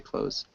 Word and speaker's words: clothes: mahfil close close yeah it depends on how you want to pronounce it but I pronounce them the same way I just think it's easier the THS sound is just a pain in the neck um so clothes is kind of weird I say close um okay yes because